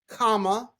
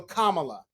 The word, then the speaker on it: Kamala: She said it's like Kamala. So Kamala.